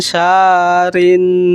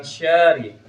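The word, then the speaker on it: شَرِّ: sar- Kalau Pak Ujang bacanya wa min syari bukan syari. Tapi Syarri. syarri.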